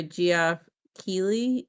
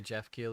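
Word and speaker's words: Geoff Keighley: If it's not a video, yeah, just uh So, it was a post by Goff Keley. I think that's how you say his name. Yeah, Jeff Keley.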